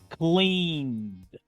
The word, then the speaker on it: cleaned: Pronuncio la ed como una D, dejando esta E muda. Escuchen de nuevo. Cleaned.